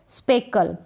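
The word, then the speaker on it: speckle: स्पेकल समझ गए होंगे कि CK है ना, इसको साथ में आप ले लें, क प्रोनाउंस कर दें।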